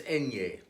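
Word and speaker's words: eñe: for this letter is enye it is pronounced like the NY in Canyon which is actually the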